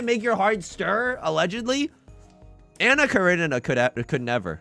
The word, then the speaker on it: Anna Karenina: Anna Karenina could never. Anna Karina? How do you pronounce it?